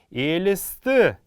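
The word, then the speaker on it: Элст: Элисты. Элисты. Как мы помним, это у нас мягкорядное слово, поэтому буква «Л» будет читаться мягко. Не «ЛСТ», а «элисты».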